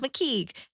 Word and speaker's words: Mckeigue: Spelled Mckeigue, but pronounced McKeague.